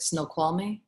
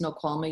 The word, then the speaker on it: Snoqualmie: think it's i don't i'm not going to say it right snoqualmie it's how you say it kathy's no it's no qualme yarn they had um they